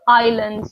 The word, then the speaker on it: island: one is island and notice that I don't pronounce the S so Island the S is silent the second one is